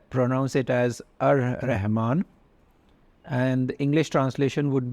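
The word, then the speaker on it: الرحمن: So the first one, Ar-Rahman, you pronounce it as Ar-Rahman, and the English translation would be the most compassionate.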